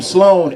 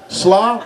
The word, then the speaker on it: Sloan: sloane the third i go by my last name sloan s-l-o-a-n easy name people for some reason cannot pronounce sloan really roger no sloan slaw no sloan shalom no hello no [ __